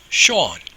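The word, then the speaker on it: Seán: we have Shawn now Shawn as you see the S is slender because the closest fowl in the same word is an e he and I are the slender valves they cause Shawn to be pronounced as they cause the S to be pronounced as a shutter sound now that n is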